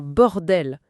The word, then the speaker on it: bordel: par exemple l'accentuation sur bord dans bordel, c'est pas juste un détail technique, hein.